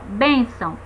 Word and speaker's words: bênção: Vejamos o exemplo aqui, ó, bênção. A gente percebe que a sílaba tônica da palavra bênção é bem, primeira sílaba.